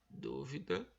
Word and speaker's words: dúvida: Então, dúvida é o du, é a palavra proparoxítona. Duvida, o vi, é a palavra paroxítona, porque o da que